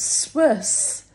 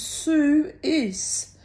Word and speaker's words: Swiss: And because it's spelt that way, right? And the older man said, no, it's Swiss. And I could hear them arguing. She's going, no, it says Sue-is.